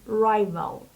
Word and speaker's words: rival: the singular firm is rival rival the stress is on the first cab rival and it means competitors